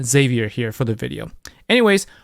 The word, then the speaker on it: Xavier: be uh Xavier uh I did contemplate on how you could pronounce his name Javier or sh uh you know I know somebody who name whose name is uh chevier but I'm going to go with with uh Xavier here for the video